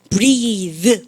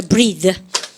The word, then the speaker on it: breathe: 근데 이렇게 할 때 어미가 요렇게 하고 요렇게 유성음화 된다 그래요. breathe 그래요. 제대로 하시겠죠? 발음 갖다 하죠. breathe. 이가 있으면 유성음화 변하면서 성대 올리면서 breathe.